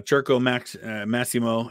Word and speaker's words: Circus Maximus: it's uh so yeah cherko Max maimo is how how it would be said in Italy but yeah it's um you're in Italian it's circus Maximus um so yeah I